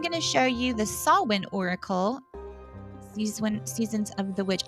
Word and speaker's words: Samhain: I am going to show you the Sawwin Oracle, Seasons of the Witch. I know it looks like it says Samhain, right? And it does not. It's not how you pronounce it. It's Sawwin.